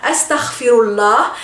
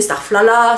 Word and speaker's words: astaghfirullah: Donc en arabe littéraire astaghfirullah, et bien sûr en français on dit starflala, starfla, starfla, etc.